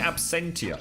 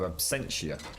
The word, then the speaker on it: Absentia: I've been calling it Absentia, and then I managed to catch them go last time on Absentia. I think it's pronounced like a dementia, isn't it? So Absentia.